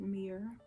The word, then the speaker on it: myrrh: to me myrrh incense myrrh some people pronounce it mirror but i pronounce it murr like frankincense and myrrh m-y-r-r-a so the rose